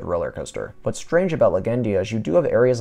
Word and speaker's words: Legendia: bagendia in Poland or as a is actually pronounced legendia leave a like for my awesome polish anyways